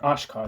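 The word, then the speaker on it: Achcar: London professor jilber AAR AAR or ashar that's how you say his name um jel ashar is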